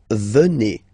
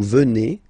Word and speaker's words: venez: Then, classic ending for vous, EZ here, and then you pronounce it et, vous, venez. Vous, venez.